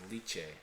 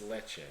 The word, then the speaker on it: Lecce: Anyway, so I want to get to a team that we barely touch on, and you actually mispronounced them, Nino, as Lecce. It's not Lecce. It's Lecce. Lecce.